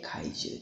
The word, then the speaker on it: 海住: 身なのに海に住むと書いて怪獣でございます。